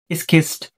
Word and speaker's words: schist: Example में आ गया slate and स्किस्ट। स्किस्ट का आप देख सकते हैं यहाँ पे स्पेलिंग है SCHIST।